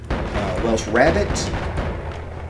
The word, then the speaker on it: Welsh rarebit: Welsh Rabbit, Welsh Rarebit. I've seen both pronunciations. Let's go with Rarebit because it sounds, yeah, maybe whatever.